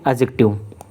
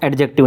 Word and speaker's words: adjective: ध्यान रखना है, एडजेक्टिव नहीं बोलना है, क्या बोलना है, एडजेक्टिव, डी साइलेंट होता है।